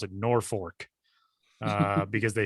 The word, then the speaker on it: Norfolk: me, I don't know, put a second R in there if that's how you want people to pronounce it then.